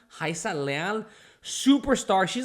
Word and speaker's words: Rayssa: On a different subject, Rayssa Leal, or Rayssa, I know it's spelled with an R, but many Brazilians pronounce it as if it was like an H or J sound. Rayssa Leal, superstar.